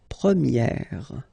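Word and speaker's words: première: change quite much because if you think about the masculine form you pronounce it premier. Okay? And then for the feminine form you will get premier. Okay? So it's open this a sound premiier. premier and then second example.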